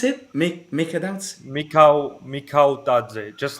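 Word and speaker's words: Mikautadze: pronounce it? Mika Dautse. Mikau Tadze, just like how you read it, pretty much.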